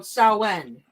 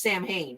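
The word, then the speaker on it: Samhain: guess so the pagan holiday is called saen it is pronounced Sam ha you guys say it is Sam Hayne it pronounced saen look it up so when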